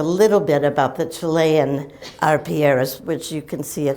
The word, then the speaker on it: arpilleras: places more like a Z, but I say Arpieras and and that's what they are.